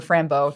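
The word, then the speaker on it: Fran Bow: Franbow will always be, or Frambo, depending on how you pronounce it, was a very like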